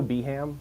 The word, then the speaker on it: Birmingham: no no no no I think it's probably fine like I think they're the same name but with different accents absolutely so I it's just pronunciation I mean I go beham like yeah oh I'm sure you're Americans you're very busy you don't have time to say all the syllables I guess we say